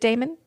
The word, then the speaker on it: daemon: date mailer daemon or is it pronounced demon Miller demon it's a it's demon yeah they pronounce it demon yes but how is it really pronounced is it Damon mailer daemon I think